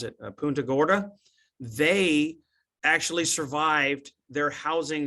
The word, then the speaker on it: Punta Gorda: Ian uh the community of and I'll probably mispronounce it Punta Gorda they actually survived their housing survived pretty much